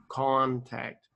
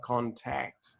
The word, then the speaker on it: contact: with the word contact the first civils big corn and the second syllable tact as small so it's like contact but when you said it was like contact okay contact it's very